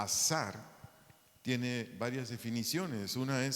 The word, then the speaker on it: azar: ayudador de un vocablo hebreo azar a Z a a r acento en la segunda a azar tiene varias definiciones una